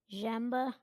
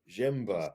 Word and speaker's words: Ziemba: And your drummer in Wheelchair Sportscamp, Greg, is it Ziemba? How do you pronounce his last name? Jemba. Jemba. Kind of like blended all together.